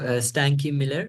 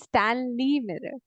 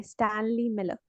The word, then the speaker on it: Stanley Miller: what say say who was the scientist oh stanky Miller and stanky no there's no stanky Miller he's Stanley Miller no stinky stanky Miller how do you pronounce it s d a n l e y Stanley Miller oh Stanley Miller okay was the other one